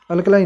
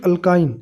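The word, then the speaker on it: alkyne: अल्कलाइन नहीं, sorry अल्काइन, sorry pronunciation में mistake हो गई।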